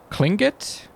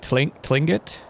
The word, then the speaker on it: Tlingit: if you're ever curious it sounded like it was pronounced clingit instead of tlingit i try to remember